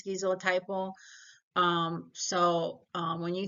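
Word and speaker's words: schizotypal: most people dressed um that's skeo typle or SK skyo typo like however you want to learn and memorize the word I think the correct way to say the word is skizo typo um so um when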